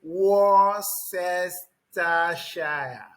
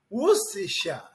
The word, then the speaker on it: Worcestershire: You say Worcestershire. Worcestershire. Is that the correct pronunciation? No, that is not a correct pronunciation. The correct pronunciation, it is pronounced Worcestershire.